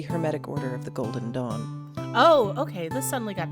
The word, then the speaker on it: Dawn: Dong? No, Becky, no. Definitely not. Dong like a ding dong or like a schlong dong? Neither, Becky, no. Golden Just what? no. Don't No. spell it. Smack. D-A-W-N. Oh, Dawn! Yes.